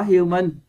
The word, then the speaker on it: human: Các bạn có human, các bạn nhấn vần 2, nhấn vào âm E đây, vần 2.